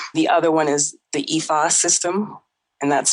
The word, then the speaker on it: Ifa: The other one is the Ifa system, and that's spelled IFA, which is based in the Yoruba tradition out of what is now known Nigeria.